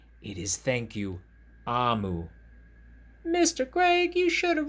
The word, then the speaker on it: Omu: note to the reader omu is pronounced amu is the igbo term for queen so it is not thank you omu it is thank you amu mr greg you should